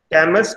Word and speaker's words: Camus: If you will spell out in French, it will be called as Camus Cognac, where S word is silent.